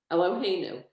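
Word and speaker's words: אלוהינו: And then on line 7, the 1, 2, 3, the 4th word, you could, is it Eloheinu? Perfect. Eloheinu.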